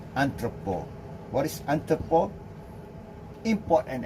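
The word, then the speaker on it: entrepôt: Singapore entrepreneur that acted activity is known as anthropo spell it e n from from French e-n-t-r-e e n t r e p o t anthropo what is anthropo Import and Export so that's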